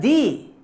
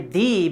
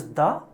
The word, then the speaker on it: the: know the song the moon the art here D it is say D because oh oh it starts with the vowel